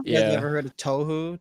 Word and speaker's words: Touhou: great soundtracks yeah yeah you ever heard of touhou touhou i think it's how you pronounce it but it's like an indie game